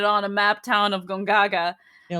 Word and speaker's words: Gongaga: the good boy from goganga gongaga ganga send him to gongaga i really like it if you say it right ugh uh just to